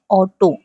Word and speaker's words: Auto: लेकिन बात यह है कि जैसे हम अंग्रेजी में "auto" लिखते हैं और "auto" कहते हैं, वैसे ही यहाँ भी हम "auto" कहेंगे, ठीक है। U की ध्वनि U ही होती है, आप स्वयं U की ध्वनि उत्पन्न करते हैं।